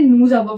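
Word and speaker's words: nous avons: फिर क्या है नूजाबो, इसे ना हमें नूजाबो प्रोनाउंस करेंगे।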